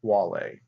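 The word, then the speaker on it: Guale: them the wall a it is spelled with a G but is pronounced wall a and the USC obviously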